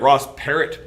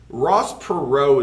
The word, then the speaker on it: Ross Perot: a guy named ross perrault it looks like ross parrot but it's pronounced perrault ross perot is going to run he is a oil